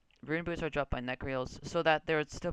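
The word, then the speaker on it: Nechryael: It's necryles. That's how you pronounce them. Rune boots are dropped by necryals, so that there would still be a reason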